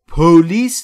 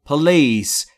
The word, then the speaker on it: police: I'm gonna من قصد دارم call زنگ زدن the police تلفظش رو دقت کنید police نیست police استرس روی L police I'm gonna call